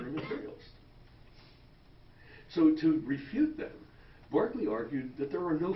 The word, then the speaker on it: Berkeley: with a bishop okay Barkley he wanted his name pronounced the way the Irish way for whom the city of Berkeley is named and Barkley gave these